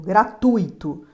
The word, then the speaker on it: gratuito: acento hipotético outro exemplo gratuito gratuito o u é mais forte ó gratuito o u é a vogal e é sempre vogal